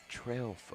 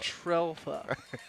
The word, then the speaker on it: Trelfa: mom even came up like before the game last week and was like, it's just like it's spelled. Trelfa. Trelfa.